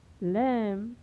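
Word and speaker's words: lamb: पहले आया है तो यहाँ पर बी का उच्चारण नहीं होगा, यानी इसे क्या पढ़ा जाएगा? कॉम, थॉम, डेट, डाउट, लैम, डम।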